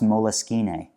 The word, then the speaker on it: Moleskine: supposed to be pronounced moleskine it's like italian it's like when i